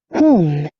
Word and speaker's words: whom: whom, Home. Whom. Só o H.